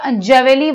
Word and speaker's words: Javelle: Finish है, तो बताइएगा जेवेली वाटर ये है क्या। स्पेलिंग इसकी होगी JAVELLE, जावेली वाटर बोलते हैं इसको, तो ये है एक ब्लीचिंग अभिकर्ता, यानी कि ब्लीचिंग एजेंट है एक, जो जैवली वाटर है।